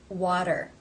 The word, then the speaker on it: water: This T comes between two vowel sounds. Therefore it is pronounced as the flap, tap T, or in other words, the D sound. Water.